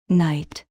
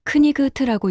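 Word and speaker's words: knight: 이 단어에서 K는 발음됩니까? 아니요. 누군가 대답했습니다. 맞습니다. 묵음이죠. GH는요? 그것도 묵음이요. 맞습니다. 6글자 중에 이 글자가 묵음입니다. 철자만 보면 크니그트라고 읽어야 할 것 같은데 실제로는 나이트라고 읽죠.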